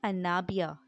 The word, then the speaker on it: انابیہ: اناویہ۔ اناویہ کے معنی ہے اعتماد۔ نام ہے انابیہ، ANABIA، انابیہ۔ انابیہ کے معنی ہے چاند۔ نام